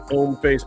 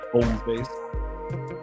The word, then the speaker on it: Hommeface: You get the handy dandy Hommeface bag. The H is silent. That's a silent H there. Hommeface, because it's French for man face.